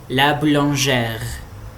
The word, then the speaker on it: boulangère: Então, por exemplo, le boulanger, la boulangère, ok? Então aqui o E é fechado e aqui ele é aberto. E a gente pronuncia o R raspado, né, na garganta.